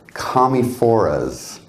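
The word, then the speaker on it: Commiphora: and years and years i said it the other way and i'm not going to anymore because it's camifora say it with me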